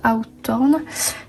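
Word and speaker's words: Hawthorne: nathaniel je mens black mois s'appelle ça se prononce out orne tolstoï bien sûr flaubert hardy et d'accueil et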